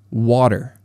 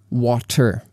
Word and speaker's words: water: Like, for example, we say water. We don't say water, right? And that in water is called a flap T.